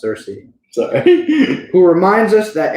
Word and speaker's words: Cersei: I said it right. It sounded like you said Xerxes. No, it's Cersei.